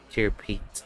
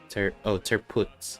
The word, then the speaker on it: Tirpitz: But look, in the katakana it says Tirpitz. So that's why I tried to pronounce this as Tirpitz or Tirpitz. I don't know. But if it's Terputz, then yeah. Terputz, is it? Terputz or Terputz? Ah, Terputz. Like that.